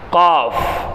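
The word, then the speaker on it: ق: வேண்டும் காஃப் காஃப் அதுக்கடுத்து காஃப் காஃப் வேற காப் வேற காப் வேற கேப் வேற வல் குர்ஆனுல் மஜீத் குர்ஆன் குர்ஆன் சொல்லும்போது காஃப் அப்புறம் ஜாலிக்கல் கிதாபுலாபீ கிதாப் அப்படின்னு சொல்லும்போது கேப் காஃப் கேப் காஃப் கேப் ரெண்டுக்கும் கொஞ்சம் வித்தியாசம் இருக்கு அடுத்து காப் சரிங்களா எப்படி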